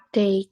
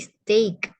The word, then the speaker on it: steak: apa steak steak ya stak cara bacanya agak rumit ya tapi itu cara bacanya Yang benar stayak bukan stak tapiay stak ada e-nya bukan stick tapi stake ya stake Heeh sampai sini kira-kira